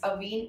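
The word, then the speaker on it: Avène: It's Avene or Aven, whichever way you pronounce.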